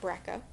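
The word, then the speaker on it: BRCA: this set of genes the brick' one and two genes sometimes I hear pronounced Braca the Brico one in two genes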